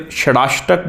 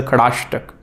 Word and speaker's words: Shadashtak: I've written up there Shadashtak, but it's actually usually pronounced in the Sanskrit as a Khadashtak. So we are taking S or it's actually Khadashtak.